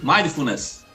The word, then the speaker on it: mindfulness: Quase isso. Quase acertou. Mindfulness. É mais rápido.